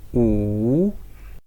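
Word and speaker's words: 五: It is wu, wu.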